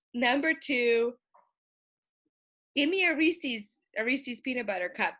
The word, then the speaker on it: Reese's: like it that's Bob Reese's Pieces not Reese's Pieces that's from the east coast a lot of different Reese's pcs yeah it's supposed to rhyme with pieces my only like I